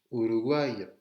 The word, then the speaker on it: Uruguay: U, Uruguay. Le U en espagnol se pronuncia U. ¿Vale? U no existe en espagnol. Le U français n'existe pas du tout en espagnol. Dès que vous voyez un U en espagnol, c'est comme si c'était OU.